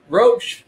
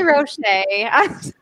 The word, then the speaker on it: Roche: last name wrong say tell us how to say it so i don't say wrong roach just like the book hey see i was going to be roche it was yeah it